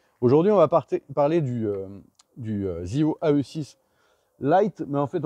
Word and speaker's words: Zeeho: dire, mais en fait de ZEO, c'est-à-dire la marque électrique de CF Moto qui s'écrit ZEEHO, qui sort aujourd'hui deux scooters.